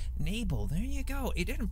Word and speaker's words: Nibel: I never knew how it was pronounced. Nibel, there you go.